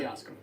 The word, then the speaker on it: Jasko: how do you say your name again J yasco yasco yasco You'll Never Die your physical being